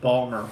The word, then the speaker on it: Baltimore: as we say baltimore remember in baltimore you dropped the middle syllable milk balmer okay so that is beautiful